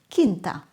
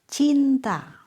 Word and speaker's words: cinta: I heard a student say Aku cinta Indonesia. Except he pronounces cinta kinta.